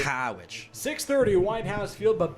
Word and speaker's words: Harwich: And Y-D on the road at Howich, as the locals say. Howich.